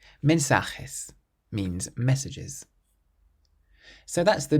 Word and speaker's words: mensajes: Well, that one was there just to trick you because it ends in an S. So we stress the syllable before last. Mensajes. Mensajes means messages.